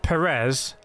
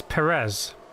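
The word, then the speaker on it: Pérez: 1 2023 season Steven there's an A on the first e to show you where you put the action it's not Perez it is Perez I don't know how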